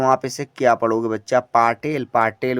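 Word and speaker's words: Patel: ए टी ई एल पढ़ेंगे पटेल पी से प लिया ए साइलेंट टी से ट लिया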